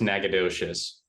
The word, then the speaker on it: Nacogdoches: is pronounced nakatish yeah whereas the Texas one is pronounced Nacogdoches this was a hot